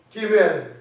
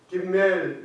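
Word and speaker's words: גימל: 그래서 히브리어도 김멜 이러지 마시고 기멜 해보세요.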